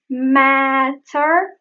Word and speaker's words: matter: You can hear the same here. Doesn't matter. Matter becomes matter.